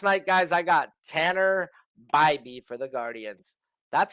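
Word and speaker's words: Bibee: Last night, guys, I got Tanner Bybee for the Guardians. That's how you say his name, okay? Say it with me. Bybee. So like a buzz. So bye-bye, and then B, okay?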